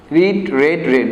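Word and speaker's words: read: I have রেড, উচ্চারণটা হবে রেড।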